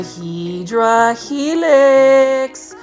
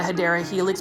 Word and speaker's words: Hedera helix: There are a couple of things, like I definitely want to keep my Hydra Helix way of pronouncing my Hedera Helix, but otherwise anything else